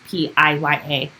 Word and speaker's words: Pia: Let me know if I'm pronouncing that right. It's Piya. Pia? Yeah.